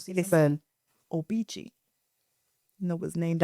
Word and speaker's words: Obici: It's Obici but it's I always thought it was called Obici. It's pronounced Obici.